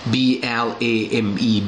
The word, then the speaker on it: blame: คือ กัด นะ ครับ b l a m e blame blame นะ ครับ คำ นี้ เสียง M เสียง E น ไม่ มี ออก เสียง นะ ครับ กล่าว หา bl O